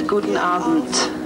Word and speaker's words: guten Abend: It's guten Abend, if you can all manage to say that.